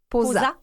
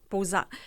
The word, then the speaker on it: POSA: Donc vous vous travaillez, je sais pas si je vais bien prononcer l'organisme Posa. Posa. Posa.